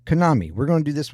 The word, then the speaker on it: Kanami: Uh we have the next in the lineup of the documentaries, the docu series uh with Konami.